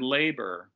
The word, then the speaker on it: labor: instance in the word labor that first vowel that long a is stressed but the second vowel is not so it's pronounced kind of like a schwa although you might think